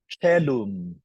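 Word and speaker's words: caelum: O followed by E is also pronounced as E, like in celum, heaven.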